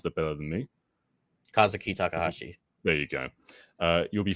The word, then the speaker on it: Kazuki Takahashi: was sad vibes, but rest in peace to Kazuki Takashi." Sorry, I haven't said this out loud before. You guys might pronounce that better than me. Kazuki Takahashi.